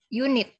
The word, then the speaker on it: unit: untuk kata ini yaitu unit walaupun tulisannya unit ya walaupun diawali dengan huruf vokal namun cara membaca kata unit terdengar seperti diawali oleh huruf konsonan dalam bahasa Inggris karenanya saat menulis unit